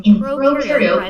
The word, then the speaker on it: prokaryote: And to help remember some more differences in this next part, I like to remember that pro in prokaryote rhymes with no, and u in eukaryote rhymes with do.